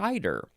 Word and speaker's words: eider: i d e r it looks like cider like I had some